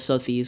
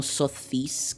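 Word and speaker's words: Sothis: Por cierto, lo pronuncia Sotis, pero yo no suelo hacer mucho caso a cómo pronuncian los japoneses los nombres, porque están utilizando nombres extranjeros y obviamente los japoneses. Edelgardo, pues no, es Edelgard, ¿no? Pero en el caso de Sotis, me parece que TH podría pronunciarse mejor como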